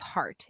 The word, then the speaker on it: Hart: thing about my name my last name is heart h-a-r-t okay I like it it's like short can mean multiple things kind of rhymes with fart well I mean it does rhyme with fart and that's been used